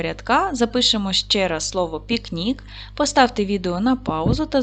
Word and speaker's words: пікнік: запишемо ще раз слово пікнік поставте відео на паузу Та зробіть звуковий аналіз цього слова поділимо слово на склади пік Нік наголос падає на другий склад к М'який приголосний тому